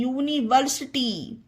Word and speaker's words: university: Word में आई है, तो उसमें यू का उच्चारण यू होगा। कुछ और एग्जाम्पल देखते हैं। UNIVERSITY, यूनिवर्सिटी।